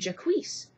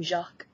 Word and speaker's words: Jacques: this one character named jaquise i just kept thinking who is this character who is this character they were mispronouncing the name jacques there are other examples